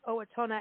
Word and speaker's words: Owatonna: the director of the conventions and tourism for Owatonna and I'm going to find out if I'm pronouncing this correctly but go to the website